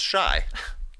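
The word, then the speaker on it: Shai: saw this shade now says his first name is pronounced shy he was joking shy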